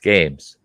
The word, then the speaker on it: Gaems: It's spelled Gaems, but it's pronounced games.